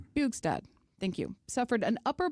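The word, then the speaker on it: Bjugstad: Bugsad, I want to pronounce it correctly. Boostad. Bugad. Bugad, thank you.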